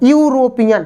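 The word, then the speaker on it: European: है बबल्स और अब इसका आप क्या करेंगे उच्चारण करेंगे तो यू मतलब या यज्ञ का आ रहा है यूरोपियन तो या यग काम यानी कि जिस भी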